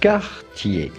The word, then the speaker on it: Cartier: For the typical French pronunciation with the typical French R, say Cartier.